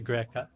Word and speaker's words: greca: And then we have the insalata greca. Yes. How do you say greca? Greca. Greca. I love it. They actually pronounce their C's with an H. So that is the Tuscan way.